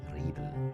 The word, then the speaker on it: Riedel: Their names are Triemer and Riedel, or in my best German pronunciation, Triemer und Riedel.